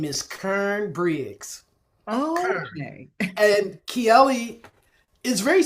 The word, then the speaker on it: Karen: The way they say it is Kern. Okay. This is the Southern drawl version of my name. Not Karen, but Kern.